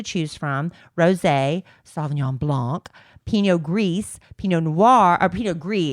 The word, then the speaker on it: Pinot Gris: from: Rosé, Sauvignon Blanc, Pinot Gris, Pinot Noir, or Pinot Gris, excuse me. I'm learning. Pinot Gris. I always thought you pronounced the S on the end, but you don't.